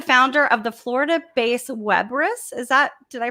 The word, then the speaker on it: WEBRIS: he is the founder of the florida base web risk is that did i pronounce that correctly you got it webriss love it um the agency is actually focused